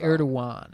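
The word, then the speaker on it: Erdoğan: Who's Erdogan? Erdogan, it's pronounced.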